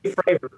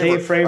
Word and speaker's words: Fravor: How do I pronounce his name? Yeah, Dave Fravor. All right, yeah, Fravor. Dave Fravor.